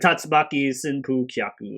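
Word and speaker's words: 竜巻旋風脚: Yeah, the Tatsumaki Senpu Kyaku or whatever, or Tatsumaki Senpu Kyak as it's pronounced.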